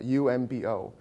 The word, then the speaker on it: Oombo: it's the center point of a shield it's pronounced it's lit written it's a umbo the center point of a circular shield and